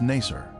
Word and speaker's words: Nasr: Its former name in the 19th century was Nasr. This pronunciation is similar to Nicer, a village that the Babylonian Berosus described as being near the Ark site.